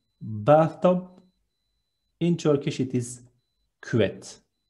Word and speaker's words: küvet: In Turkish, it is küvet. Two short syllables. Be careful, it is not küvet. It's ü with dots, so we need to read it as küvet.